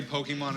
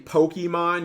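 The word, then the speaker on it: Pokémon: Is it really that difficult to just pronounce it with the accent?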